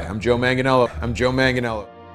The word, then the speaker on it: Manganiello: is unreal in arrow is that joe uh malenginio yeah i've definitely said his second name wrong apologies anyone's offended that's okay just i've